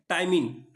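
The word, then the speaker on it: ptyalin: टाइमिन। ये पी जो है यहां पर साइलेंट है।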